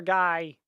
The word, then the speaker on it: Guy: I know one other guy in fiction with the name that's spelled G-U-Y, but you pronounce it as Guy.